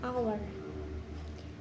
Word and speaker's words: hour: Example, an apple, an elephant, and an hour. Nah, di sini juga ada hour yang menggunakan an, padahal penulisannya diawali huruf H. Karena hour ini adalah silent H atau huruf H yang tidak dibaca, maka pengucapannya tanpa diawali huruf H.